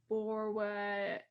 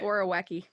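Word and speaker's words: Borowiecki: And I'm gonna try to pronounce this correctly. You guys can help me with this one. Borwa. I can do it. Yeah, you do it, Grace. I can't do it. Borowecki.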